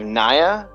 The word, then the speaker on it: Nia: And I believe Naya has it now. Naya. How do you pronounce it? Nia or Naya? Nia.